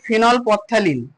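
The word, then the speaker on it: ফেনলপথ্যালিন: আচ্ছা ফিনপথ্যালিনের আস্তে আস্তে বলি ফিনল পথ্যালিন, ফিনল পথ্যালিন।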